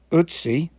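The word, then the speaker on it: Ötzi: about the ice man utsi if i can pronounce it um with that european accent the umlaut over the og is a kind of an er sound i'll let you read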